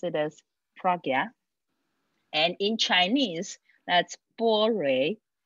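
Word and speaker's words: prajñā: is pragya and this is the way i pronounce it pragya and sometimes it's pronounced as panya and that's more like a party pronunciation sanskrit is pragya and some people pronounce that as prajna and i prefer to pronounce it as pragya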